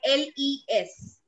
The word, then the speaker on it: Les: If we individually pronounce this word, the pronunciation is Les. Why? Because rule number one of French is that if there are consonants that lie in the end of any word, if there is a